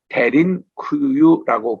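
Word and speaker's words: Derinkuyu: 지하 교회의 한 모습인데요 지하교회를 현지 발음으로 대린 쿠유라고 그렇게 얘기합니다 그 뜻은 드루킹의 말로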